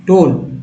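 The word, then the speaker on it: tone: इसको पढ़ेंगे सम, शम, एबा, अबाउट, प्रूव, टोन।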